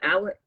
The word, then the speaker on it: Alex: So that the June double homicide of, so we have Alec, that's spelled Alex, Murdaugh. It's spelled Alex, but they say Alec, yes.